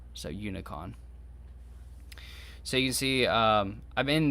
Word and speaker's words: unicon: or something like that but it looks like unicorn but spelled without the er so unicon so you see i'm